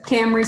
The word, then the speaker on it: Camry: um i um yeah camry spelt wrong pronounced like the card yeah that's the easiest